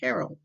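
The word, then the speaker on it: Harrold: let me know that to pronounce it it was Herold but not Herold as in a man's name this is what will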